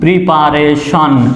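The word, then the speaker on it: preparation: PRE এখানে প্রি উচ্চারণ হবে, প্রি, পিআরই, প্রি। পিএ পা, প্রি পা, আরে রে, প্রি পা রে, টিআইওএন শন, প্রিপারেশন।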